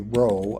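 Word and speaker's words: rho: 62 down Greek P well not pronounced P but that that uh character in Greek would be a a row I think 57 down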